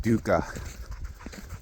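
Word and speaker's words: dukkha: Um it's called Dooka. Pretty much pretty sure it's spelled D U K K A H, but I'm not 100% sure.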